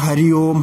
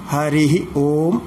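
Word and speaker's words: ഹരിഃ ഓം: ഇപ്പോൾ കേൾക്കുന്നത് സാധാരണ ഹരിയോം ഹരിയോം എന്നാണ്. വാസ്തവത്തിൽ അതിൻ്റെ ശരിയായ ഉച്ചാരണം ഹരിഹി ഓം എന്നാണ്. ഹരിഹി എന്നുള്ളതിന് വിസർഗം സഹിതം ഉച്ചരിക്കണമെന്നാണ്.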